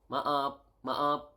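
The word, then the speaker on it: maaf: you need to say sorry sorry is ma ma ma okay sorry is ma ma and then very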